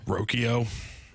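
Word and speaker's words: Rocchio: ruins my life because he pronounces it differently how does he pronounce it roko come on and I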